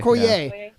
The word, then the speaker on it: Okoye: Okoye.